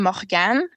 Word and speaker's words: Morganne: Morganne. It's French. It's actually Morganne, but my dad's Quebecois and my mom's English from Ontario.